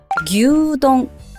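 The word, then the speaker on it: 牛丼: 음식 있잖아요 이것도 마찬가지예요 규동 앞에 규르 길게 동이라고 해주셔야 돼요 그리고 여행을 가기 위해서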